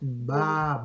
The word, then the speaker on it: baba: Mais en Swahili, on ne dit pas papa, mais on prononce baba.